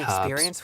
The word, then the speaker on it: herbs: And of course, herbs being a, you know, in England you'd say herbs rather than herbs. Herbs. So we pronounce the H because, you know, it is an H. It's right there.